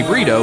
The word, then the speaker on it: Brito: as well as Ray Brito. Both of them told us about you a little bit. It's pronounced Brito, not Burrito.